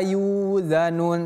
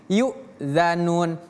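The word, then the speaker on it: يؤذن: Jadi kita kita jangan baca wala yuzanun tapi yukzanun.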